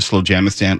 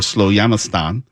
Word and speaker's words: Slowjamastan: Jamestown but he said he can pronounce it either slow jam the stand or slow yamastan and crowned himself it's